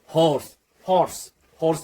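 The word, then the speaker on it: horse: इसका pronunciation ओर्स तो नहीं है, ओर्स तो नहीं है, क्या है? हॉर्स या हॉर्स।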